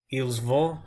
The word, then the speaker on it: ils vont: Vous allez, ils vont, you don't really hear the T in ils vont when I pronounce it.